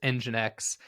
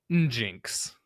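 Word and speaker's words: nginx: my very first job one of the developers pronounced engine X ninx not the first time I've heard that one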